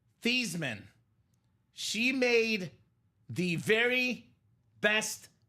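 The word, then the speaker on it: Theismann: We got to change the name, the pronunciation of your last name from Theman to Thyman."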